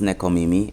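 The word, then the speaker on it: nekomimi: I did some diing and yes it is pronounced necomimi it is basically a human cross animal type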